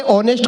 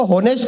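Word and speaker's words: honest: ये बोला ये ऑनेस्ट को होनेस्ट कहता है, ऑनर को होनर कहता है, इसे समझाओ इसमें एस साइलेंट होता है।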